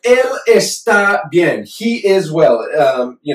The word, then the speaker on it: está: Él está bien. He is well. You know, it is well. El árbol está creciendo. The tree is growing. It is growing. Está with the accent on the A.